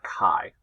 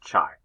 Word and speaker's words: chi: this class is the Ki Square test of Independence so first of all just a reminder that capital x is the Greek letter Kai and sometimes we write it Chi is not pronounced chai that is a synonym